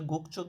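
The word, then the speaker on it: 국적: গুকচক গুকচক মানে হচ্ছে গুকচক কেন বললাম গুক গিয়কের পরে যদি জিয়ত আসে তাহলে এটা চ এর মূত্রে উচ্চারণ হয় গুকচক মানে ন্যাশনালিটি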